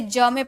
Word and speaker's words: jump: JUMP, तो यहाँ पर यू से पहले जे का यूज़ किया गया यानी कि इसे ज में प्रोनाउंस करेंगे तो हो जाएगा जम।